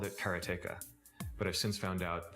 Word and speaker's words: Karateka: Uh there's no stress on any syllable, so it would be karate, something like that. I called it kerateka, but I've since found out that pretty much everybody pronounced it differently.